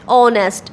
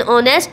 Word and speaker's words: honest: An honest man, an honest man, the letter H is silent and the opening sound is of a vowel.